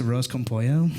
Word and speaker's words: arroz con pollo: She's like, Dad, it's pronounced arroz con pollo.